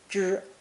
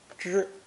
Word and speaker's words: 支: Today's new character is pronounced first tone, zhi, zhi.